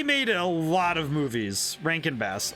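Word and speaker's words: Rankin/Bass: a lot of movies Rank and bass I I think I pronounced it wrong but it's a r-a-n-k-i-n and then bass like b-a-s-s like like actual like like the fish oh that's a nice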